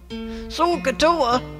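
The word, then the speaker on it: SOHCAHTOA: opera are we seeing anyway it's called socatoa sokatoa how do you spell that s o h c a h t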